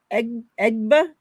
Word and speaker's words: Egbo: How do you pronounce her last name? Queen EGBO. EGBO?